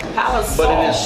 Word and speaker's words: Palisoul: how do you pronounce your last name I pronounce it paliso paliso but it is said so Sal like the